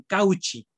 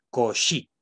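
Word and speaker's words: Cauchy: transmiten el español entonces no se pronuncia couch y se pronuncia cosa es y esta y se pronuncia como vocal es y y la achs pronuncia entonces cogí por favor de acuerdo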